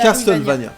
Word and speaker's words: Castlevania: Castlevania, Castlevania, s'il vous plaît. On prononce bien.